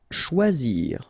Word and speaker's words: choisir: Choisir, okay, remember when you combine this C and H, you get the sound sh, and then OI, wa, okay, choix, and then zir, choisir.